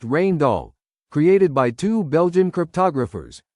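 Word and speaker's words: Rijndael: After years of testing and analysis, an algorithm called Rain Doll, pronounced Rain Doll, created by two Belgian cryptographers, was chosen and became AES.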